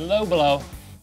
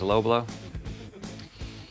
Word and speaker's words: Lo Bloo: And finally, the low blow. Should we tell the people at Low Blow that you wouldn't think that you pronounced that as low blow?